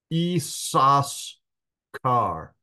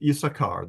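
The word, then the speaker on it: Issachar: one added on so in effect in the pronunciation there should be three s's is sasar uh but typically it's pronounced isachar that's the standard pronunciation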